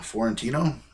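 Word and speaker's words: Fiorentino: rickman bunch of people uh let's see linda florentino that's how you say her name and uh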